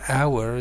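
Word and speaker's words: hour: bowel because for example our starts with a here with H is silent and the opposite actually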